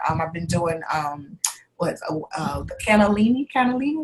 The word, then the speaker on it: cannellini: Cannellini is how you say it.